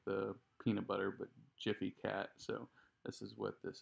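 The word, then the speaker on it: Gfycat: kinda like jiff like the peanut butter but jiffy cat so this is what this is so if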